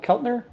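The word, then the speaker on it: Keltner: What's the correct uh pronunciation? Kel Kelner.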